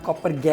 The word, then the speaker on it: COPPERGAT: ठीक है, जो ठीक इसका है, सही मतलब इसका नाम है, सही इसका नाम कॉपर गैट कॉपर ही है।